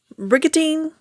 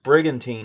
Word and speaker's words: Brigantine: is by jonna michael at cat country 107.3 bricatine new jersey brigantine yeah brigantine new jersey really should like listen